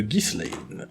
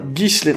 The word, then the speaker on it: Ghislain: Ghislaine. Alors, ça s'écrit Ghislain. G-H-I-S. L-A-I-N. Moi, je te prononce ça Ghislaine, mais c'est peut-être pas bon. Gislain.